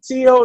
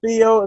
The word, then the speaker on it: Teo: Teo, not Theo, because last time I said Theo and I got G. It's Teofimo. Teofimo. As much as I want